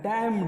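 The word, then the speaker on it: damn: let's move next word डैम middle पढ़ रहा था उसने आया था यहां पर तो एंड साइलेंट होता है डैम गुड ओके बेनेफिट अभिशापित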